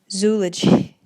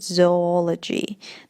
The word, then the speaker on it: zoology: да, слова это zoo, many people say zoology или zoology. That's not correct. Это неправильно, и правильное произношение будет zoology.